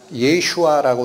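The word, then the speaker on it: ישוע: 예수, 예슈아라고 읽힙니다.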